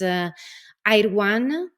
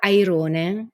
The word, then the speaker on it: Airone: It's Airwan if you pronounce it in English, or Airone if you pronounce in Italian.